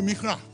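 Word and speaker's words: מקרה: There's a Hebrew word for it. Mikre. Mikre, if you can't pronounce it, you say Mikra.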